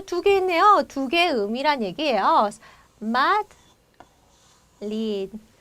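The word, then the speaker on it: Madrid: 마드리드. 자, 앞에 있는 이제 약하게 마드, 마에 빨리 붙여주시면 되고요. 자, 대로 끝나 있는 단어 어때요? 그냥 받침을 넣어주고 이렇게 발음을 닫아주면 된다고 했죠? 마드리드, 마드리드 이렇게 구분이 됩니다.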